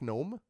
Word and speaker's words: gnome: She's a half orc, half gnome. You say half orc, half gnome? Yes. Okay. Or a Nork, if you will. And orc. The G is silent.